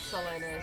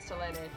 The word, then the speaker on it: Selene: And then we have Selene. Or Selene? Selene? In Japanese it's Selene, so we're going with Selene.